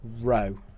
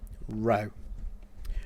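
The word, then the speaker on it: ρ: and we write the the symbol row pronounced like that row okay so water has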